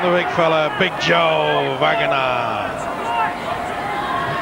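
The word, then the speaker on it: Vagana: Now then, will we get a run from the big fella, Big Joe Vanganar? You've got it wrong again. It's Vanganar.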